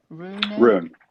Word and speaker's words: RUNE: because you only have roon how do you pronounce their name Rune Rune Rune correct yeah maybe from Sweden we have